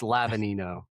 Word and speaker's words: Lavagnino: It's Lavanino. Okay. So, the the G the G is silent, so makes it